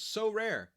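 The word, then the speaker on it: Sorare: our new sponsor is so rare two syllables a revolutionary hold on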